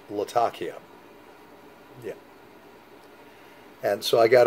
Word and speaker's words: Latakia: know that have uh latakia in it some people call it latakia but supposedly it's pronounced latakia yeah and so i